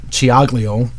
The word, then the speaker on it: Ciaglio: Being Italian, I can say it the right way. And she, Ed's back there laughing. Well, it's true. You know, you have to know how to say the C's and the CH's and the CC's. And they don't match up as we say it in English.